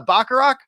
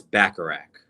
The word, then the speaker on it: Bacharach: i saying your name is it uh baccarat you were you were pretty pretty close there sal it's bacharach bacharach okay thank you very